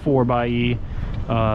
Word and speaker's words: 4xe: can see right here 4xe but it is pronounced 4 by uh that's you know four-wheel drive electric really like